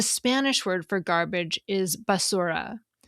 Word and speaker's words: basura: Now, in contrast, the Spanish word for garbage is basura. We pronounce each vowel sound in that word clearly, basura, none of them swallowed.